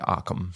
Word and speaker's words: Occam's: A variant of it is Occam's razor? Occam's razor. Is it Occam's? So Americans say Arkham.